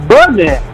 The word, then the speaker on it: Buddah: Nah, it ain't Broman. It's Buddah. You can't just change his name. You just change his name. You can't change the man's name. It's Buddah.